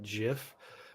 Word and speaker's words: GIF: joke that elita made elita a leader pronounces it jiff which um i just don't understand it to me it's gif it's always been gif yeah i think i